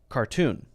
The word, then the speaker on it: cartoon: you say it so Bobby Lee would say cartoon and Ronnie is saying Caron cartoon K tune and Bobby would say car tune that's the American pronunciation of